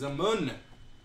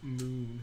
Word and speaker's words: Plagueis: He's a moon. Well, Pronounced moon. a moon. A moon. I always said moon, like Olivia Munn.